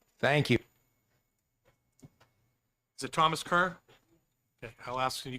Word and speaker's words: Kerr: you is it Thomas Kerr okay I'll ask can you come up next thank you for having me today my name is Thomas K KR it's pronounced K but I go by